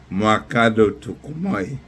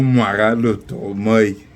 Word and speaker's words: Mwakalo Tukumoy: My name is Mwakalo Tukumoy, or Mwakalo Tukumoy. That's how I actually pronounce it.